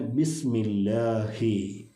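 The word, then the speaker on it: بسم الله: ആയത്താണ് ബിസ്മില്ലാഹി റഹ്മാനി റഹീം ഈ ബിസ്മി ഓതുമ്പോൾ പലപ്പോഴും ബിസ്മില്ല ബ എന്നുകൊണ്ട് തുടങ്ങുന്ന ആളുകളുണ്ട് അത് ശരിക്കും ബാഹ് എന്നുള്ള അക്ഷരത്തിന് കസറ ബി എന്ന് തന്നെ ഉച്ചരിക്കണം ബിസ്മില്ല ചില ആളുകൾ ബിസ്മില്ല അവിടെ ഒരു യാഹ് ഒരു ദീർഘം വരാറുണ്ട് അങ്ങനെയും സംഭവിക്കാൻ പാടില്ല അത് അതുകൊണ്ട് തന്നെ ബിസ്മില്ലാഹി ബിസ്മില്ലാഹി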